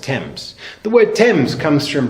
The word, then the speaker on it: Thames: it spelled th am es but it's actually pronounced temps the word Thames comes from brittonic Celtic which